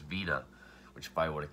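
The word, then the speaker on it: Wiene: of dr caligari i think i called him wine i've heard wine weed but then i've actually heard that his uh is actually pronounced vena which if i would have considered his german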